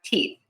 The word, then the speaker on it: teeth: We have teeth.